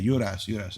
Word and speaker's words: Juras: Juras. You don't pronounce the J. Juras.